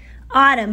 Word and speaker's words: autumn: Okay, autumn, remember? The N is always there. Even though the N is silent and we don't pronounce it, the N is always there.